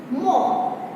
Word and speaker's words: more: MORE मोर है, लेकिन बोलते हम क्या है? मो।